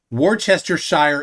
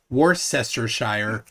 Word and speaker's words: Worcestershire: say it actually right now many Karen says War Chester Shire it's pronounced wart Worcestershire and I'm not even not even a native